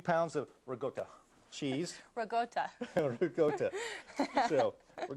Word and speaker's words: ricotta: It's ricotta and not ricotta like this.